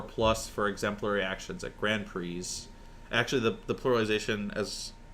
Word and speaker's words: Grand Prix: be obnoxious now is Grand Prix um like Attorneys General um wait is it actually yeah Grand PRI gr Prix um no one actually says that but that is the correct pronunciation um never even knew